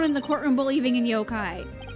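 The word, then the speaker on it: 妖怪: it means blaming a yokai. Why do you keep saying yokai? It's yokai. The emphasis is on the yo part.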